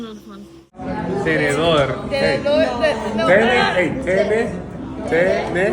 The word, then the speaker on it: tenedor: Tenedor. Like tennis. Tenedor.